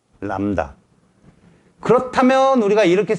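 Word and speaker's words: lambda: 그래서 뭐라고 읽어? 람다. 람다. B가 묵음이다. L-A-M-B-D-A. 람다.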